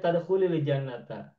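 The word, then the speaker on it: تدخلِ الجنةَ: mau wasol boleh bacanya tadkhulil jannata. Tadkhul Hmm. jadi tadkhulil. Sukun ketika bertemu alif lam menjadi kasro.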